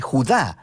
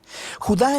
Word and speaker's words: Judá: la carta de Judas o más precisamente Judá de acuerdo con la pronunciación de su nombre tanto en griego como en hebreo Judá Era uno de los